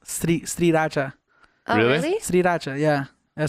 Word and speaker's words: Sriracha: It's actually pronounced Sriracha.